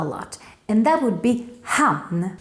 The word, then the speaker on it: hann: And that would be han. Don't mix it up with han, even though it's pronounced exactly the same.